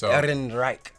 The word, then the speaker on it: Ehrenreich: I think he does about as good a job playing Han Solo as I do pronouncing his name. It's Ehrenreich.